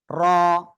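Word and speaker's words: ر: ওকে, এবার দেখেন জিহ্বার আগার পিঠ, তার বরাবর উপরে তালুর সঙ্গে লাগাবো আমরা, ঠিক আছে। র, র, র, র, র, র, এভাবে আমরা উচ্চারণ করব, ঠিক আছে।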